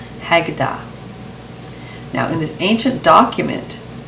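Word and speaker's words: Haggadah: reptilian but there's an old book called The hagada now I uh I'm going to spell that for you h a g g a d a h hagada now in this ancient document it says that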